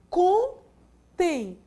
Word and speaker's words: contém: Quando eu digo ele e digo contém, contém. Quem é a sílaba tônica de contém? Tem. É a última.